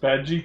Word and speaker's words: Bad Guy: It's pronounced Badgy.